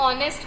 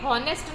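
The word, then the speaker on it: honest: आपको बोला था ना, ये जो एच है ना वो साइलेंट में चला जाएगा, ठीक है। तो हम इसको प्रोनाउंसिएशन ऑनेस्ट करेंगे, ठीक है, हॉनेस्ट नहीं करेंगे, इस वजह से हमने यहाँ पे एन यूज किया है, ओके।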